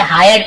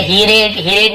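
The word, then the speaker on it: hired: ही हायर्ड a donkey, ही यानी वह या उसने हायर्ड, देखिए इसे हायर्ड पढ़ेंगे, आई के साथ आ रहा तो है ना, आयर, ऐसे उसका उच्चारण हायर्ड। ठीक है, हीरेड नहीं पढ़ेंगे, आपको सुनने में बहुत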